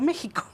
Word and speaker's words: México: Claro, aparecen otros, como el uso antiguo de la X, como por ejemplo México. Sí, que en México se escribe que es el uso antiguo. La pronunciación antigua era como J.